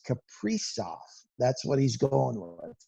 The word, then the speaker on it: Kaprizov: Yes, we did get the pronunciation correct. It is Kaprizov.